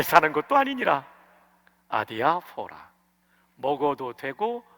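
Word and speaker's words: ἀδιάφορα: 아디아포라인데 발음 기호 영어식으로 해드릴게요. 읽으시도록 알파, 델타, 이오타, 알파, 파이, 오미크론. 이번에 오미크론이 O예요. 그 다음에 이거는 P가 아니고 R 발음 나는 로예요. 로, 알파. 액센트 여기에 있어요.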